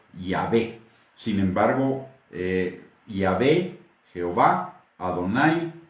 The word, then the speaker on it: Yahvé: Los hebraístas han llegado al acuerdo general de que la pronunciación original debe de haber sido Yahvé.